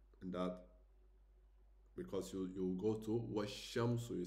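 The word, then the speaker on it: والشمس: to washamsu, you say, you jump from the al, you don't pronounce the lam, you go washamsu, okay? You don't say washamsu, you stay a little bit, you press a little bit the sound, wash, okay, and then you go forward.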